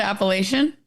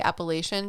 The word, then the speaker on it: Appalachia: Well, like in the East Coast where I'm from, they say Appalachian, but I've heard that when you talk about Appalachia, I call it Appalachia. Mhm. So, I'll say Appalachian Mountains, but the place in which the people are is Appalachia. Interesting. Where I'm from, it's always been Appalachia, which is fun.